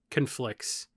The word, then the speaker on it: conflicts: It is conflicts, but I understand if it's a noun, you put the emphasis on the first part, and if it's a verb, you put it on the second part.